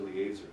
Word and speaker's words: Eliezer: Actually, it's A. E is pronounced A. Eliezer.